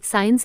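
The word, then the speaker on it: science: T doubt यानी शक एस के बाद आया हुआ सी प्राय साइलेंट होता है जैसे एस सीई एन T Saint यानी इत्र एस सीआई एनसीए साइंस यानी विज्ञान जी से पहले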